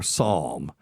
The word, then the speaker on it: psalm: So words beginning with PN or PS have silent P in English, such as psychology or psalm and pneumonia.